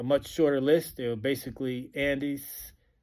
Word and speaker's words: Andis: shorter list they basically Andes Andis however you want to pronounce that I get a lot of flack about what's the proper way of pronouncing that but a n